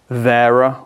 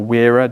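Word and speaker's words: Wera: ever bought was actually the Vera or weira depending on how you pronounce it um this set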